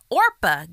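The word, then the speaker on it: Orpah: Orpa Gail Winfrey was born on January 29th, 1954.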